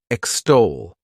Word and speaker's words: extol: The next verb is extol. to extol. This word has two syllables and the stress is on that second syllable.